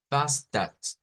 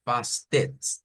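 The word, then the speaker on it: fasten: Entonces, véase que pasamos de una vocal E que cualquiera, si no supiéramos de esto, nosotros nos diríamos en español, mire, yo leo que ahí dice pastel, ¿ya?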